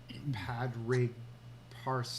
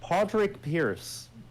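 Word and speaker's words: Pádraig Pearse: Irish Republican Brotherhood um padri parse I don't know what that padrick pierce oh padrick Pierce okay that's how you pronounce that um what the founding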